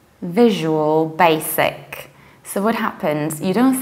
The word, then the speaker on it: Visual Basic: visual visual and then you don't say Daisy because there is no that we say basic there is s remember my film about